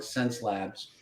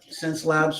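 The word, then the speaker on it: Xencelabs: than any cintique I've ever had is the sense Labs x c and it's about $300 Less in and it's a 4 okay spell that again I didn't CS it's x e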